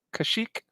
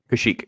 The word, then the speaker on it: Kashyyyk: So this one was from the how do you pronounce it? Kashyyyk. Kashyyyk.